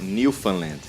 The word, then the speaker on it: Newfoundland: Newfoundland. Como é que você falou que eles falam? Não, eles não falam found, né? Eles falam Newfoundland.